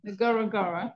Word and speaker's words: Ngorongoro: However, as we waited for dinner at the Lodge restaurant last Friday evening in the middle of Ngorongoro National Park, is that how you say it? Yeah, Ngorongoro National Park, a miracle happened.